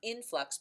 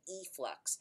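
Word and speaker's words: efflux: how you spell it not in flux but e flux and what these bacteria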